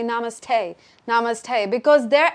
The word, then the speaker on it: namaste: For example, if you listen to white people say namaste, they can't say namaste. They say namaste.